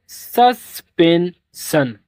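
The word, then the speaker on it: suspension: जब भी आपको एस आई ओ एन मिलेगा उसे आप लोग पढ़ेंगे सन। क्या पढ़ेंगे? सन। इसे नोट कर लो। तो अब इसको पढ़ेंगे सस्पेंशन।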